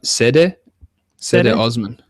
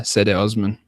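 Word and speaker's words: Cedi Osman: Cleveland Cavaliers, they took C.D. Osman from Anadolu. You want to help out with this international guy? Which guy? C.D. Osman. I heard it. Sede Osman. Yeah, I heard that. Yeah, Sede Osman.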